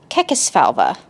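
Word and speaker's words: Kekesfalva: I even looked up how to pronounce it and now I can't remember. And then it's Kekis Falva is how you say the family's name.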